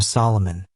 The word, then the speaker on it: Solomon: This interpretation may be fanciful, but it seems true that the king's compatriots called him Solomon, pronouncing his name as an amphibrach, not as a dactyl, as we do.